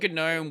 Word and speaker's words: gnome: opinion on people who spell gnome without a silent g spell it wait they